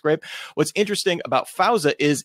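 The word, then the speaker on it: Greyp: company grape last year spelled weird but it's pronounced grape what's interesting about fauza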